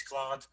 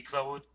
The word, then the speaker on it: Claude: by the way uh the english way it's claude frenchway would be clothed but it's fine dude